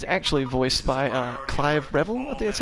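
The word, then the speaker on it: Revill: Marvel villain he's actually voiced by a Clive revelant that's how you pronounce his name he is better known as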